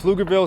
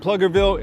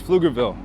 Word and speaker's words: Pflugerville: We we went over a lot in this video, you know, we went over the the correct pronunciation of Flugerville. It's not Plugerville, it's Flugerville.